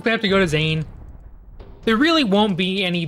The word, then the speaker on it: Zane: His name, because the name is Zane. It rhymes with pain, and he's gonna drive you all insane.